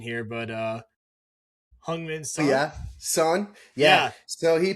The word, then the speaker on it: Heung-min Son: Help you with the pronunciation here, but Heung-min Son.